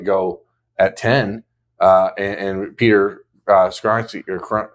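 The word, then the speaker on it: Skoronski: I was surprised to see Darnell Wright go at 10, and Peter Skronsky, or how does he say his name? Skronsky.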